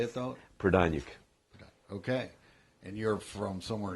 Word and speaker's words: Prodaniuk: Prodaniuk.